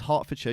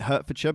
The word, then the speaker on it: Hertfordshire: was born some alban's hartfordshire UK 1982 if you're American you pronounce it Hertfordshire but you're wrong yeah or you'd pronounce